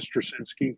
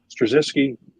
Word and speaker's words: Straczynski: Michael Straczynski, I think is how you pronounce his name.